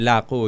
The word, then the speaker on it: Lako: Actually, Lako yung tamang pag-pronounce.